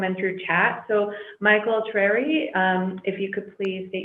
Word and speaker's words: Trarie: Well, you already stated my name. You got the pronunciation perfect. Okay. So thank you for that. You got all the vowels in there.